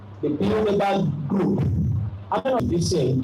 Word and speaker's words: Bilderberg: B-I-L-D-E-R-B-E-R-G. It's a German word. Bilderberg.